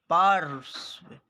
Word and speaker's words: पार्श्व: लेकिन ये आधा है तो आधा रहता है तो हम इस आधा वाले से भी पहले इस र को उच्चारण करते हैं। तो इसको कैसे पढ़ेंगे? पार्श्व, पार्श्व।